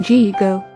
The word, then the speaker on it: GIGO: In computer language there is a term called GIGO. That's pronounced G-go.